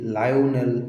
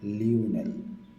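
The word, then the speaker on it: Lionel: ইংরেজি লায়ওনেল আর্জেন্টিনায় হয়ে এসেছে লিওনেল। যান স্পেনিশ উচ্চারণে লিওনেল।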